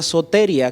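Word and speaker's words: σωτηρία: Porque en primer lugar vamos a hablar y exponer de que la salvación viene de un verbo que se pronuncia soteria, que significa liberación o atravesar un lugar con seguridad.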